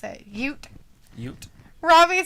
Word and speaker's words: Ute: She's dancing like a Alita says that's the way they pronounce it. Ute.